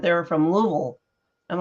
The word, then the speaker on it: Louisville: I thought it was Louisville anyways you have to that's a southern pronunciation you have to slur the words together so it's a Louisville go ahead um so